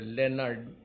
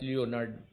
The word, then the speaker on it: Leonard: Itong Leonard kasi it's pronounced actually properly Leonard, not Leonard.